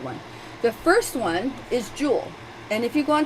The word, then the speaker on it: joule: it's large j and it's pronounced joule like jewelry or kilojoules is what's